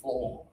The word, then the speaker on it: floor: So the O here indicates an O sound, not an ooh.